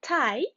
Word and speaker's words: tie: Tie. Pie. What do they have in common? I-E, very nice. And how do we pronounce this combination? Tie pie, I again.